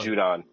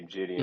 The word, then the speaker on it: Judon: I for the life of me, I can't pronounce his last name. Matthew Judon. Judon. I was gonna say Gideon.